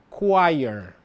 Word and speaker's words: choir: Então, eu gostaria de fazer recapitulação e dizer que a pronúncia correta de coral em inglês é choir. Choir, ok?